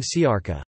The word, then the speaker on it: siarka: For example, the s in siwi, gray-haired; the c in siarka, sulfur; and the in shvente, holy, all represent the sound.